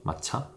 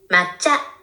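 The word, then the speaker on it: 抹茶: 마차 마차라테 잠깐만 이게 일본 말이니까 일본 사람들은 어떻게 발음을 하는지 한번 볼게요. 일단 영어로 돌려요. 마차 마차 일본어로는 맞자 맞자 맞자 맞자 말차하면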